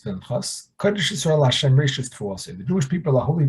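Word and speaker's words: תבואתה: Now the pasuk, even though it's pronounced Rishis Tevouata with a vav sound, it's written with a hey, which makes it sound like we are the tevua of Hashem.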